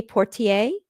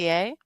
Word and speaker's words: Poitier: looked at me and I can never say his name, Sidney Portier, I think is how Sidney you say it? Poitier? Yes.